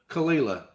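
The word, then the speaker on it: Caol Ila: How do you pronounce that? Say it again. Mock. Yeah, Kalila.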